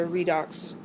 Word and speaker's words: redox: and we call it a redox reaction. It looks a little like red box with the B missing.